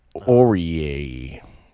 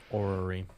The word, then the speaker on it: Orrery: Chromatic Aureae. I don't know how to pronounce that. Chromatic Orrery. Orrery.